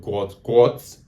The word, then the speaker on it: Gout: If you are a fan of sprint racing, athletics, and you've not heard of Guat as his father pronounces it, I'm not going to pronounce it.